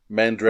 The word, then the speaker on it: Mandragora: How do you pronounce Mandragora. That? Mandragora.